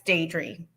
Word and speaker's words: Diedre: with us today so let's get into it dri am I uh pronouncing your name correctly absolutely yes it's day dream thank you so let me ask you the